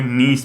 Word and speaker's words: Gneiss: वो अपने आप में नीस में बदलेगा। तो नीस अपने आप में क्या हो गया, एक प्रकार की ये कायांतरित या रूपांतरित चट्टान होगी, ठीक है। GNEISS लिखो, ये जी साइलेंट, GNEISS, ठीक है।